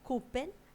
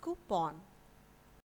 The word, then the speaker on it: coupon: or some materials so remember it is not cupen and it is coupon I repeat it is coupon the next word is Bowl it is not